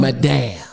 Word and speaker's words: madame: No. Madame. That's how they say it in French.